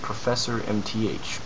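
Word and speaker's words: ProfMTH: a comment posted by, I believe his name's pronounced Professor MTH, P-R-O-F-M-T-H, and he's got some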